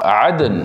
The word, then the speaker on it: Aden: yang keluar dari dasar Aden Aden ni nama tempat di Yaman Eden e d e n atau Aden atau Eden lah ejaan aalah ni bahasa Arabnya Aden ini pun satu